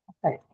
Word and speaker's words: affect: Affect. A verb. Yeah, it's a verb. So if it's a verb, then we should know that this is going to be marked on the second syllable.